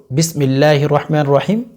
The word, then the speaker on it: বিসমিল্লাহির রাহমানির রাহিম: এখানে যেহেতু সিন আপনি সিন উচ্চারণ করবেন সিন উচ্চারণ করবেন না বিসমিল্লাহির রাহমানির রাহিম বিসমিল্লাহির রাহমানির রাহিম এভাবে তেলাওয়াত করে দুই একবার রিপিট করলে ইনশাল্লাহ